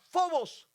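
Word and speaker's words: φόβος: que se que se que se pronuncia fobos y fobos en la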